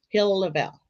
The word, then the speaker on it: Hill-Lavalle: Hill-Lavelle.